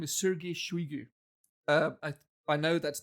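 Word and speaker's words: Сергей Шойгу: current russian defence minister uh his name is sergey shuigu uh i i know that's not how you spell it but that's how you pronounce it that's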